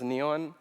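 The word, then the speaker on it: Kneyone: Ni, because my name is spelled K-N-E-Y-O-N-E. That's weird, because no one could pronounce that as neon, and then Zeus for energy.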